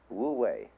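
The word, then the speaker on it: 無為: It's called in Chinese, Wu Wei. Wu, non, Wei, striving. In Japanese, Mui. E is Japanese of pronouncing the Chinese Wei.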